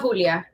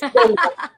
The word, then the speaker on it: Delia: I love Julia, not Julia. Say it right. It's Delia.